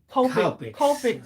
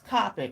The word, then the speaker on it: Copic: The one lady that got upset because I pronounced Copic markers Copic. I call them Copic.